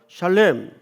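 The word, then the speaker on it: שלם: 여러분, 여기 온전이라는 말이 히브리 말로 무슨 뜻인가, 무슨 발음인가 하면 샬렘입니다. 이게 온전하다는 뜻이에요. 한번 따라서 해볼까요? 샬렘.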